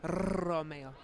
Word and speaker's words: Romeo: It's Romeo. Is that how you say it, Romeo? Yeah. Romeo. You have to roll the R's every time.